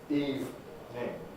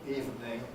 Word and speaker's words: evening: we're on that word can i draw everybody's attention to the fact that it consists of only two syllables eve name i often hear particularly from german learners for some reason three-syllable pronunciation evening which hasn't existed in english english for over a thousand years we've got spellings from